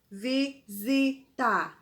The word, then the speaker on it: visita: momento de pandemia ó visita também uma uma palavra com 3 sílabas né e nos vi olha o som dos vivise pensamos que é com z mas é com s tá vamos lá para a